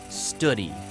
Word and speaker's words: Study: mine's manager, Will Study, though interestingly, it's pronounced Studi.